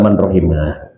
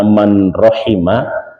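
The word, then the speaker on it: من رحم: Illa man rahimah ya gitu ya. Nah, dibacanya bisa dua ini. Bisa man rahima, bisa man ruhima. Tapi yang masyhurnya adalah man rahima.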